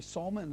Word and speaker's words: salmon: the salmon, and he pronounced it that Scottish country way, salmon, as if it's got a U in it.